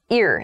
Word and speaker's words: ir: The next prefix is ear, ear. So the pronunciation is ear, even though it's I-R.